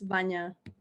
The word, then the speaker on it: Vanya: question uh it comes from vanda for banja i don't know how to pronounce her name so go ahead yeah hi it's vanya yes uh i'm a junior